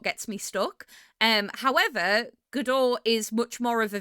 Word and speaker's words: Godot: I know it looks like it says Go Dot and I was pronouncing it Go Dot for a while, but it's not. It's GDO.